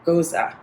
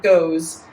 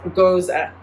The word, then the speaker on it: Gose: um dive into a style that we call goza now already i learned so much i have been pronouncing pronouncing this goes so it's spelt j-o-s-e so i was like